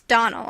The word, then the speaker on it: Donnell: As for that Donnell woman, she'll get no Donnelling from me, I can assure you. The name is Donnell, and always has been.